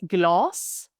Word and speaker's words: glas: If we have this, for example, we have glas, we have one S, so the A, the A, the vowel is pronounced long, glas, meaning glass.